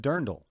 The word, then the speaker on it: Dirndl: It's pronounced Dirndl, Jose. Dirndl. Darn dull.